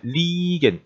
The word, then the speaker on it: liegen: 자 liegen 이 에가 붙어 있으니까 발음은 이 하고 길게 발음해야 되겠죠. 이 부분은 그래서 liegen인데 요걸 갖다가 지도에다 쓸 때는 Wien liegt라고 쓰면 Wien은 어디에 위치해 있습니다.